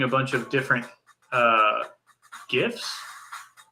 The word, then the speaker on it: GIF: bunch of different uh gifs or gifs i learned is the correct way to pronounce it uh what you could